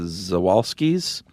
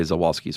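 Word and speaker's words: Przewalski: they're named after but when you start your name with three consonants I never know which one is silent oh okay so how do you spell it prz oh I was not gonna guess this ew all ski uh so I'm just gonna say zawalski's horse but um people were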